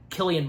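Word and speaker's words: Cillian: Garrett, Michael Sheen, um, Killian Murphy. Yeah, that's how his that's how his first name's pronounced.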